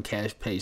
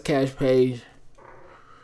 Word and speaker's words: Kaash Paige: bio of the twitter there's been a part-time cash page standing account over on this side but she